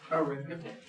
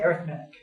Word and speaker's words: arithmetic: Arithmetic. Some people say arithmetic. Some people say arithmetic. I say arithmetic.